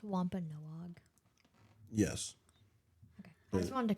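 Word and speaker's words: Wampanoag: does want to be Cherokee AR is it pronounced Wampa noog yes okay I just wanted to confirm well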